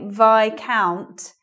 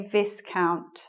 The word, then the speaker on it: Viscount: what they did especially, but we say Viscount even though it's vis here. So we don't say Viscount, that's wrong. It's AI, Viscount.